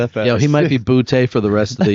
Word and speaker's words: Boutte: Bout. Is it Bout? Yeah. Okay. I was going to say Booty. Boutte. I like that better. I like that better. Yeah, he might be Boutte for the rest of the year.